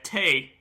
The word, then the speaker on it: tea: So the tea fact that I've drummed up from my research today is: until Victorian times, English upper classes pronounced it tay.